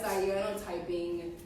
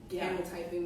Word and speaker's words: cyanotyping: Cyanotyping, canotyping. We're talking about which proper way to say it, but it's cyanotyping. I think so.